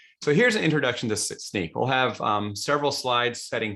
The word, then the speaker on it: Snyk: to always remind people we are pronounced sneak not snick um and this statement